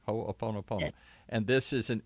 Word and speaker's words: Ho'oponopono: Ho'oponopono. Ho'oponopono. Did I say it right? Ho'oponopono.